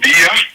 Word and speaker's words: Biya: And, 93-year-old Paul Biya, is that how you pronounce the president's name? Oh, Biya?